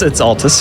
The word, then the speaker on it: Altus: go today i learned it's not the atlas platinum no it's it's altus yeah it's i don't